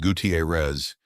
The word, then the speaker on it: Gutierrez: He swung to clear and caught substitute Brian Gutierrez, pronounced Gutierrez, clean through the foot.